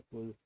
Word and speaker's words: cdr: Esta CDR se pronuncia kudro.